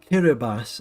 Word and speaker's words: Kiribati: So we've colonised Kiribati as well, which is how you pronounce it.